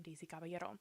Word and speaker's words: Daisy Caballero: Her name is Daisy Caballero, and she pronounces her name Daisy Caballero.